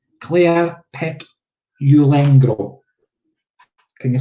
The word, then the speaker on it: Petulengro: You did say it right. Petulengro. Petulengro. It's because it's got that R in it, and us Scottish people need to roll our R's.